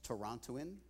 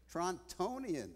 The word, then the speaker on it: Torontonian: next speaker, I am very proud to begin this conference with a very famous Torontoan, I think it's called. How do you say it? Torontonian. Oh, my God.